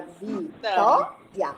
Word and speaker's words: Vitória: Porque você fala Vitória e não Vitória. Certo? Ó, se você falasse Vitória, seria 4. Mas você não fala Vitória, você fala Vitória.